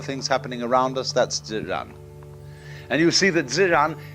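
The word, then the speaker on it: 自然: the Chinese expression Z Zan they pronounce j like an sort of unrolled r i mean that's the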